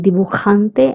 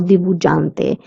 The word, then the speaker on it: dibujante: The J sound in dibujante is k. That's why I'm saying dibujante and not dibujante. We don't pronounce it as j but k.